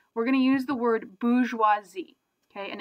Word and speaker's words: bourgeoisie: gonna use the word bourgeoisie okay and it's spell it's got like an extra R in there I bet you don't actually pronounce so it's bourgeoisie hey boo schwa z